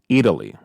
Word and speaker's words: Eataly: New York City called Eataly. It's like a play on the words of Italy, but it's spelled Eataly, and they sell everything Italian there.